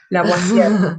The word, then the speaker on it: Lavoisier: Lavoisier, se pronuncia Ese.